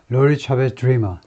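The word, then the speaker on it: DeRemer: representative 하면 하원 원이죠 dreamer 이것은 그냥 드림하고 발음이 거의 똑같대 꿈꾸는 사람하고 발음이 똑같습니다 오레건 주의 원원 로리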